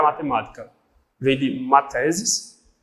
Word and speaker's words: mathesis: Vem de mathesis, um TH, tem uma pronúncia que é parecida com aquela do inglês, né? Aquela como se fosse fezes, uma coisa assim, e que é a doutrina do número abstrato.